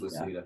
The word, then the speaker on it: Lucida: I always screw up Lucida. Yeah, it's pronounced Lucida.